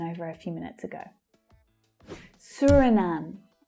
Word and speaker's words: Suriname: Suriname. Now, this first vowel sound is quite an uncommon one. It's the as in tour vowel sound. Suri, Suriname. And the last syllable is the stressed syllable, Suriname. Swaziland.